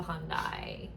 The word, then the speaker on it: Hyundai: But if you guys have a Hyundai, am I saying that right?